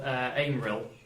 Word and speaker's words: Aemyrill: There's a small town, and there's a sign sort of crudely written upon it, the village of Aimrill, which is spelled Aemyrill for those who like taking notes.